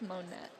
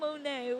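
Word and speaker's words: Monett: Yeah, we learned it's pronounced Monet, not Monae.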